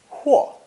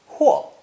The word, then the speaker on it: 或: It's pronounced fourth tone, huo, huo.